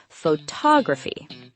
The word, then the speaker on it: photography: However, interestingly, in the word photography, the stress shifts to the second syllable, photography.